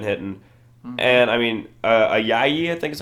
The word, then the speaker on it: Ayayi: And, I mean, Ayayi, I think is how you say it? Yeah, Ayayi.